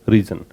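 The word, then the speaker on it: risen: राइज की second form होती है वो रोज होती है, थर्ड फॉर्म होती है वो होती है रीजन, इसका जो प्रोनाउंसिएशन है वो क्या बोलेंगे, रीजन।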